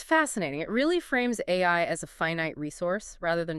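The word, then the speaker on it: AIRIA: It really frames AI as a finite resource rather than just a fun novelty.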